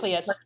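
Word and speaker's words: Cleis: I think that's how you pronounce it, Cleese, right? Yeah, Which is Cleus, exactly.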